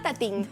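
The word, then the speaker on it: Tatin: Y si después por la tarde queremos tomar otra manzana y nos gusta la repostería, te propongo hacer esta tarta tatín, o tarta tatén, que se pronuncia así.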